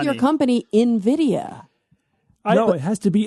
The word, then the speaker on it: Nvidia: Carara, somebody needs to tell Cara that it's pronounced Nvidia. It's the most important tech company on the planet and it's pronounced Nvidia.